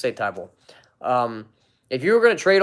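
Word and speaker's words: Thybulle: a fan of Mattias Tai Bowl sorry about butchered his name tie ball it's a tie ball if you were gonna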